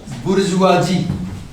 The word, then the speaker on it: bourgeoisie: of the bourgeoisie two words look here we pronounce it as bourgeoisie how do you pronounce it say it say